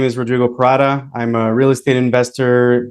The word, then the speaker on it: Rodrigo Parada: to hear um so yes my name is Rodrigo parata I'm a real estate investor based out of